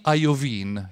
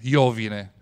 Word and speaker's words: Iovine: vedete sulla sinistra e lui si chiama jimmy ajovin iovine però gli americani pronunciano ajovin chi ha il jimny